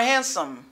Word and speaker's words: handsome: The letter D is not pronounced because we get ND in this word.